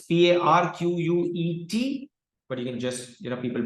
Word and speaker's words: Parquet: Okay, it's PARQUET, but you can just, people pronounce it as Parquet.